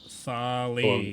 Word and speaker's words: Thali: Yeah, It's just Hold Thali. on, let me consult my notes. It's like Wall-E from that one Disney movie.